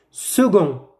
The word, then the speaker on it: second: vous entendez elle marche second il se prononce gai gai et ne pas que gay second grammaire vers par